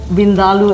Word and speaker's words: Vindaloo: in our restaurant is for Vindaloo, as it's correctly pronounced, because next time we go to an Indian restaurant, Colette, say Vindaloo, they'll treat you so much nicer. Vindaloo. Yeah. Okay. Because, I mean, most people say Vindaloo, but that's not really the correct way.